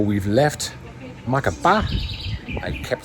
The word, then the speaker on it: Macapá: I kept saying Macapá, but I should have known because of the accent on the last A that it's Macapá. So from now on, I'm trying to say it correct, Macapá.